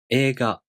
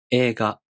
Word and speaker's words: 映画: For example, 映画. As I said, the E long vowel is represented by I. 映画.